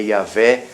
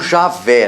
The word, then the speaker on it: Yahvé: Testamento foi falado, né, que é Yahvé, o nome dele, não Javé, não existe Javé, é Yahvé, nem Jeová, isso é tradução que eles inventaram, é Yahvé, o mais